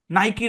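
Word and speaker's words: Nike: এই যে যেমন নাইকির কথা বলি, তাইলে তো আপনার মনে এই প্রশ্ন আসার কথা ছিল যে স্যার, নাইকি রে, নাইক হওয়ার কথা, আসলেই তো জি নাইক হওয়ার কথা। ওরা নাইকি জি পরে জি আমাদেরকে নাইকি পড়তে হবে, কারণ মালিক ওরা, ওই নামের মালিক ওরা।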